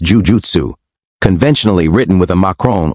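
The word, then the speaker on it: jūjutsu: The double letters indicate a long vowel sound twice as long as a single u letter to be exact.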